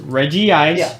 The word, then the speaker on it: Regice: Like, how hard is it to pronounce the Reggies? Reggie Ice, Reggie Rock, Reggie Steel, Reggie Gigas.